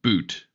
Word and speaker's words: Butt: Or third way, you can tell everyone it's pronounced boot.